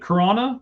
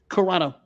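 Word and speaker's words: Carano: So as you were saying, Gina, is it is it Corona, right? That's how you say it. Corano.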